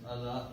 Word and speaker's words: Allah: And the God, which is in Arabic is pronounced as Allah, is the source of all creation.